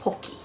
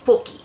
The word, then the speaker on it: Pocky: Pretz is a savory type pocky. It's actually pronounced pokki in Japan. In Japan, it's pokki.